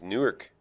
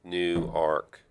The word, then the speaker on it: Newark: It's spelled exactly the same as Newark, but they all say no, it's Newark.